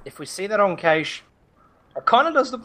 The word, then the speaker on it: Cache: It's not cash. It's Cache. Yeah, it's Cache. It's Cache. Yeah. It's Cache, not cash.